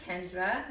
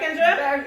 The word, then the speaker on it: Kendra: with me thursdays i'm amina and my name is spelled a m-i-n-a-h and i'm kendra that's k-e-n-d-r-a and today i'm so excited because